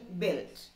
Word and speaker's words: built: There is a silent letter in that word. U, u nammala parayilla. Pin engeniya paraya? Built.